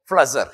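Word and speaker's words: Pflüger: जिसको अपन कहता है एग ऑफ फ्लजर, ठीक है ना, पी उसमें साइलेंट था।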